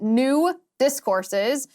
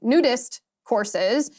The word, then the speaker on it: New Discourses: also the founder of new discourses which you have to pronounce exactly correctly or else it sounds like nudist courses um and I think